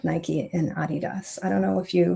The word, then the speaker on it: Adidas: Adidas. You pronounce it. It is pronounced Adidas.